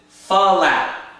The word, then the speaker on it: flap: flaps its wings but tap dancing teachers will often pronounce it fap the reason they pronounce it like that is to make it sound like the actual step if you listen fap if I said flap